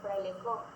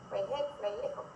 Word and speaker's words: Frailejón: Y al igual que en Frailejón, el niño cambiaba la acentuación, decía Frailejo.